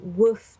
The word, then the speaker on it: WWOOF: really your your first port of call is woof dot net which is spelt ww SS so 2 w's 2 o's